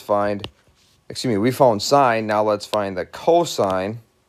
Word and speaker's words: sine: sine of angle a we just write sin a sine of a is how we pronounce that we use the acronym